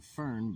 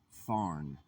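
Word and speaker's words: Fearn: uh I was saying fern but it is it's actually pronounced farn like barn just put a f in place of the b.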